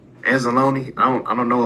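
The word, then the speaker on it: Anzalone: Analone. Analone.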